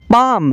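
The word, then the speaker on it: palm: का L silent है पाम पाम का मतलब है हथेली पाम का एल साइलेंट है साम साम का मतलब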